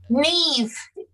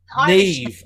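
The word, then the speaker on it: Niamh: Neve. Neve. Oh, okay. Neve, Eunice Phillips, Tanis Bula, Judith Simon, Liz Babram, Vasundra Sir, and Jill May.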